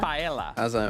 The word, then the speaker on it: paella: paella. Paella. It's not paella. It's paella. Paella.